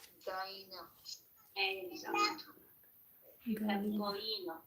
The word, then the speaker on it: găină: A hen in Romanian, we say Găină. exact. You have Găină. găină. See, you don't Găină.